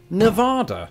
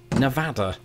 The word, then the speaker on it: Nevada: So from this day on, I vow to the people of Nevada that I will pronounce it Nevada. What's that? There's a city in Iowa with the same name. I'm it's a genius. It's pronounced Nevada.